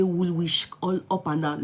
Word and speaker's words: Woolwich: When I got to London, when they showed me Woolwich, I used to say Woolwich. Now later they correct me saying now Woolwich, not because Greenwich. Now later they told me it's Greenwich.